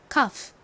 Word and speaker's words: cough: 이 단어에서 역시 GH가 단어의 끝부분에 쓰여서 F처럼 소리가 나죠? 발음 연습해 볼게요. cough, cough.